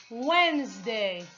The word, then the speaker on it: Wednesday: we don't pronounce the we don't pronounce d when wednesday wednesday thursday thursday as you